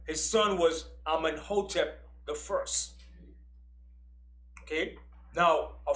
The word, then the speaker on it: Amenhotep: His son was Amenhotep the first. Okay? Now, a pharaoh in Egypt had two names. He had his birth name, which was Amenhotep, which means Amun is at peace with him.